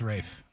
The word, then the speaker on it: Ralph: it Rafe is it Rafe fines yes it's pronounced Rafe okay okay he's in that conclave movie which